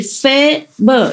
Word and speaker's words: Faber: It's written F-A, like in Vietnamese A. It's like cafe in French, pronounce it like A in French. And B and is pronounced more or less like like in urgent. So I say Faber.